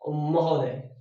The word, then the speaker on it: महोदय: तो देखिए महा प्लस उदय, महा उदय, महा उदय, आ उ नहीं बोल के ओ बोल देते हैं, दोनों का थोड़ा थोड़ा मिला करके, इसलिए उच्चारण हो जाता है महोदय।